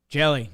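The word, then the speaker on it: Hjelle: Jelly. Just drop the H basically. A silent H in front of his name? Yeah. Silent H, hit the E at the end because it just ends LLE.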